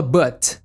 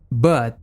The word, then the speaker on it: but: Quando a letra estiver em branco dessa forma na pronúncia, significa que é uma letra pausada, ou seja, o som quase não sai. Não fala but, mas sim but, Jason, but you're dead.